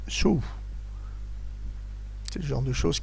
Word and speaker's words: sol: Il semblerait en fait qu'on écrive sol, que l'on prononce sou.